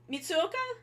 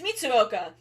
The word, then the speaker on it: Mitsuoka: Koji and uh also matsuru mitsuka I think I got his first name wrong it's mitsuoka um and he's also pretty